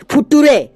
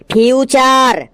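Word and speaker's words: future: কি লেখা আছে স্যার ওটা লেখা আছে ফিউচার একদম ঠিক বলেছিস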